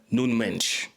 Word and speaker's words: Nuno Mendes: Let's talk about the real baller on the pitch and that was Nuno Mendes. For the Portuguese out there, Nun Mench because I know the Portuguese like me to pronounce stuff correctly.